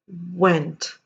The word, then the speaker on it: went: my lip vent went for the w you round your lips as in as if you were to assume that there is o and not w presume that there is o and no w at all and try and say that now went and here it